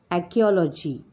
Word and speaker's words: archaeology: Next, archaeology. Here once again R will be silent.